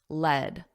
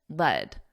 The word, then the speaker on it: lead: the metal is pronounced lead lead does that sound familiar to you because that's how you pronounce the past simple of the verb to lead which has the same